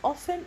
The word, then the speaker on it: often: بالنسبة ل often راح أحكي لك إنه we can pronounce it in 2 ways, often and often، وأنا شرحت لكم من قبل إنه one of them is American and the other is British.